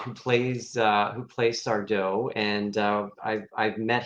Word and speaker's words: Sardo: the door unlocked and sardo no mister accent on the dough uh russ before i